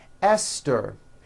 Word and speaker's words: Esther: Although these next words and names are spelled with a TH, they are pronounced as if they were spelled with a normal T, like that.